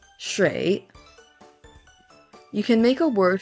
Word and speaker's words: 水: The Chinese pronunciation of this word is shui.